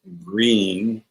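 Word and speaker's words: Gruene: And then next to Bronfells, you have a an area called Green, although it's not spelled green. It's spelled G Ru N. It's more like groom.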